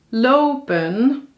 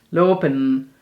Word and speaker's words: lopen: Daar zeggen wij lopen, ja, met een N. En je ziet dat dat ook op een paar andere plekken is. En het bruine gedeelte, daar zie je dat ze juist de E in slikken en de N heel erg uitspreken. Soms als een M bijna.